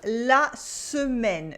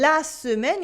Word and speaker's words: semaine: You see, before a vowel, the un explodes, by which I mean it becomes 2 syllables instead of 1. For instance, we have la semaine, the week. In la semaine, you have the letters